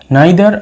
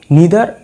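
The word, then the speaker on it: neither: দেখো, নাইদার আইদার সো নর, এই নাইদার আর আইদারকে দুভাবে আমরা উচ্চারণ করতে পারি, নিদার আর ইদার, তোমাদের যেটা পছন্দ, হয়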